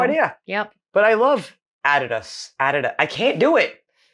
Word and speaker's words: Adidas: Because they usually pronounce it Adidas. We do. And in Germany, we say Adidas.